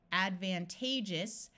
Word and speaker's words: advantageous: We have advantage, disadvantage, advantageous. Notice that when we add the us, this A takes on a long A sound. Let me point that out again. We have advantage versus advantageous.